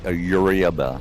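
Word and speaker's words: Eurybia: next uh place we're going is called um Yaba so it's spelled e is an echo U is in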